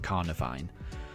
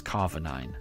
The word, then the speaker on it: Carnivine: Carnivine, but for some reason when I was playing the games I read it as Carvinine and I've always called it Carvinine and it's it's I'm it's wrong. I know it's wrong, but I'll always end